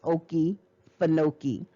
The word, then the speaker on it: Okefenokee: all right so the oki funoki again they gave you the pronunciation and i like the way that word sounds okie fanoki the okefenokee swamp is